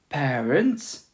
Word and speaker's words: parents: Parents, les parents. We don't pronounce the T and S. We say les parents, ren.